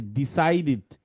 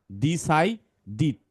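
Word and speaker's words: decided: অ্যান্ড এটা কি, এটা হচ্ছে ডিসাইডেড, ডিসাইডেড, ডি দ ই, আর সি এর পরে যদি আই থাকে তাহলে এর মতো হয়, এটা তো আমরা জানি। ডিসাইডিড, ডিসাইডেড না, ডিসাইডিড, ডিসাইডিড টু, এইটাকে তুমি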